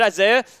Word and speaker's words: Isai: Isai is how you would pronounce that, but it's just Isaiah is just kind of what he's called, and it sounds like it's this thing that it's not.